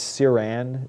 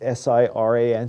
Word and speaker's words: siran: These drugs, just as sort of a shorthand for you, if you then kind of dyslexically take siRNA, you can kind of misspell it as Siran, S-I-R-A-N, Siran.